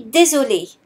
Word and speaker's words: désolé: Je suis désolé. However, the pronunciation is the same. Here, the E is silent.